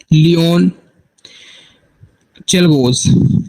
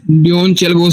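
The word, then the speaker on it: Leon Czolgosz: लन चलगोस लन चेगोस बंदा था जिसने इनको असिनेट किया आप उसका स्पेलिंग लिख लें एल ई ओ एन सी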